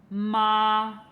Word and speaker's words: 妈: 再听一遍啊，horse，马，mother，妈，它们很像，但如果用平声，应该是 mother，妈。